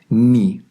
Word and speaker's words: 네: Por esa razón, el posesivo tu lo pronunciamos como ni, aunque si lo leyéramos tal cual sería ne también. Es un caso particular, así que no os preocupéis demasiado.